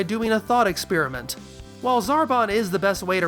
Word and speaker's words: Zarbon: taking an extended vowel sound and shortening it, while here we're taking a short vowel sound and lengthening it. So, if Frieza comes from freezer, then it makes sense that zabon becomes Zarbon.